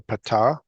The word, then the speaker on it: Patah: Letter He with a patah. Ha. Patah. Accent the first syllable in the names of vowels.